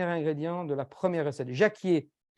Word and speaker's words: jacquier: de la première recette Jacquier J a changé les plans ja C Q u I e r comme Jacques en fait comme le prénom Jacques et Jacques frère Jacques